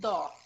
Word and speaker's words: dough: The flour was mixed with water and sometimes a little old dough. Dough. Dough. A little old No, dough. dough. Only dough. Dough. Only dough. Okay? You don't pronounce the GH.